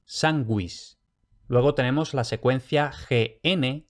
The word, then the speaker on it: sanguis: Y luego, cuidado, cuando tenemos G-U-E o G-U-I, en esas secuencias la U se lee, como en español cuando tiene diéresis, gue, gui, como en sanguis.